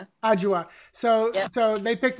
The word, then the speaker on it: Adjoa: So, and how do you pronounce the name again? Adjoa? Adjoa.